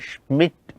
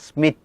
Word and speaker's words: Schmitt: Schmitt, this is SCHMIDT, Schmitt, not Smith.